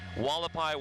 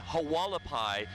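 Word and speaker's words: Hualapai: you trained me, is how to pronounce this street, Wallapai Way. I think I was calling it Hawalapai, which is kind of a natural mistake a lot of folks make when they come to the Las Vegas Valley, and then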